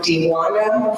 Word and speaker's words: Dwana: I'm Dwana. I always said to correct my name. You always want to pronounce the J.